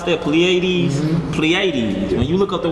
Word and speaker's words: Pleiades: stars in all right or pl how you pronounce that pleiades pleiades when you look at the word pleiades it